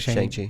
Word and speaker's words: Shang-Chi: Shang-Chi, yeah.